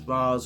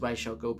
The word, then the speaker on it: Ra's al Ghul: Now, regardless of whether you pronounce it as Raz or Raish, I've always pronounced it as Ra's al Ghul because that's what Kevin Conroy pronounced it as.